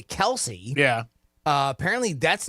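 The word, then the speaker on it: Kelce: Yeah, you put just C like Kels, and that's it. You end you end it with the sound of an S.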